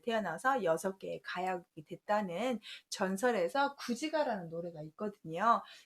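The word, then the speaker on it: 龜旨歌: 6개의 가약이 됐다는 전설에서 구지가라는 노래가 있거든요. 그때는 귀구가라고 안 하고 구지가라고 읽어요.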